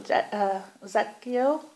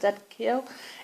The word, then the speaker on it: Zadkiel: So Archangel Zadkiel, that's how you pronounce it, Zadkiel, is saying always have gratitude for the things